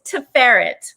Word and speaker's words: Tiferet: well first you get decaf tomorrow it's to ferret the pharynx it's fair and it's a hebrew